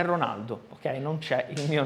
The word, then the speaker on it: Ronaldo: O som do R, por exemplo, Ronaldo, não existe na língua italiana padrão. Então, na Itália, os italianos me chamam sempre Ronaldo. Vabbè, eu tive que aceitar. Então, é Ronaldo, ok?